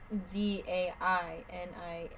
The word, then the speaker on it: vainilla: No, it's Vainilla. LLA. Wait, what is it? Vainilla. It was Vinia. It's not Venia.